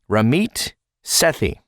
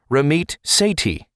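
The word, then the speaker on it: Ramit Sethi: show he's written by ramit sethy I also heard it pronounced ramit sethy and also ramit Sati so we're going to go with ramit sethy how about that so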